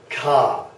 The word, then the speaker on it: K: This one here is ka. Ka. So, like ka. K-A. Kind of sound.